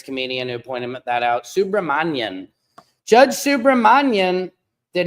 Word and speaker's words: Subramanian: I heard another reporter say Submarinian. Come on, you guys. It's Subramanian. Subramanian. Judge Subramanian. Thank you to Arun for Life, a hilarious comedian who pointed that out. Subramanian.